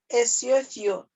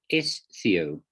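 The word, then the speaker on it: ἐσθίω: It's not esothio. Esothio. Not esothio, you're very close. It's esthio. So there isn't a vowel between the sigma and the theta.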